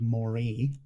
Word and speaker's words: Moray: And the last is that there is a war-torn island called Moray. Like an eel.